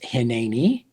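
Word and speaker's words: הִנְנִי: And this one is pronounced hineni.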